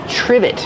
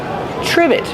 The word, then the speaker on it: trivet: Trivet. Use the short I like this is and the v sound. Triv. Trivet. It starts with tr so we make the ch sound like chicken together with the r.